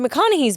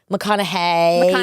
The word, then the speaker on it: McConaughey: like Matthew McConaughey's book McConaughey hey sorry I always say it wrong she gets mad at me he's my Austin Austin yeah he died I think it's gonna I think I think McConaughey thank you well only because that's